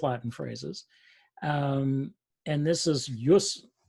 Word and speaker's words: jus: And this is jus. In Latin, the J is very often pronounced as an I, essentially. So it produces a y sound.